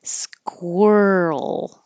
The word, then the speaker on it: squirrel: in a long time squirrel squ make sure you round your lips as you're making your K squir squirrel sovereignty sovereignty